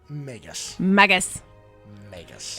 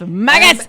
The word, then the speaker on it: magus: quite a bit magus magus it's maggots if it's haggis it's magus i'm sorry they are